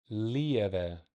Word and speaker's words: relieve: Sometimes these V's are pronounced with B's. Relieve. It's a soft B.